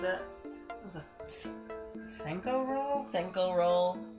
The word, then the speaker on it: Senko: Oh, it is pronounced Senko.